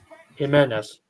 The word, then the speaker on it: Jimenez: Jimenez. He's pronounces H in Spanish.